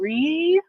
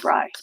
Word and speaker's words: Rye: So are we saying re or are we saying rye? How am I enunciating this name, pronouncing this name? The second way, rye.